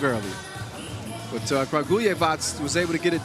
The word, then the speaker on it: Kragujevac: I finally got that name right, thanks to Julian above. So Kragujevac. I was saying it wrong earlier, but Kragujevac was able to get it done in the qualifying draw.